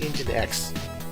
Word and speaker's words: nginx: it, application is going to be it's called engine X, however you want to spell that, but that's how they spell it.